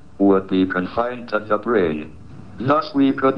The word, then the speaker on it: brane: The answer may be that we live in a brain world. Your brain is spelled B R A N E.